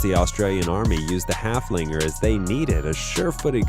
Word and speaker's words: Haflinger: Haflinger. With a name that rhymes with gunslinger, Haflingers are just as awesome as they are therapeutic.